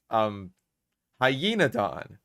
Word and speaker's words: Hyaenodon: Hyaenodon. It's literally a name with Don at the end. It's like he's the Don of hyenas.